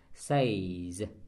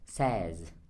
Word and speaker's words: says: có thêm s đấy, chúng ta không đọc là says mà chúng ta phải đọc là says.